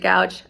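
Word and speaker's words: Goudge: magic by elizabeth gouge i've heard her name scooch i've always pronounced it gouge i'm excited to read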